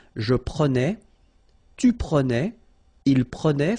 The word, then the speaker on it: prenait: Je prenais, tu prenais, il prenait, final T not pronounced, so the same form, okay, and then plural, as I said, prenait as well.